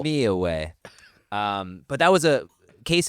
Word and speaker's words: Millahue: Oh, you were way off. You weren't even close. I was trying to be real cool with my pronunciation. You missed the whole syllable. Millahue.